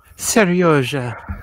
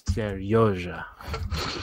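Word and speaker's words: Серёжа: Serioja. Which, as far as I know, is not the actual pronunciation. It's Serioja.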